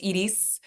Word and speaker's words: Iris: is Idis is actually iris is pronounced Idis so in Spanish I is a e and then the r r and then the other e so it's Edis um so I just